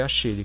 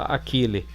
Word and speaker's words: Achille: Que substituiu depois o RCV225, ROV Achille foi utilizado no brasil em 91 pela Comex substituindo o RCV225 no DSV FlexService1 para acompanhar o lançamento de linha. Alguns pronunciam Akile mas é Achille.